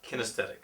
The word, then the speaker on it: kinesthetic: Kinesthetic.